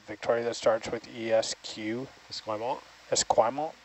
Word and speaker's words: Esquimalt: Do you know how to pronounce the part of Victoria that starts with ESQ? Esquimalt? Esquimalt? Esquimpton?